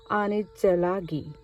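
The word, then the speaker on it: Anitsalagi: In the Cherokee language, Cherokee people is pronounced Anitzelagi.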